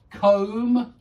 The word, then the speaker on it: comb: don't pronounce the B comb you don't pronounce the b tomb you don't pronounce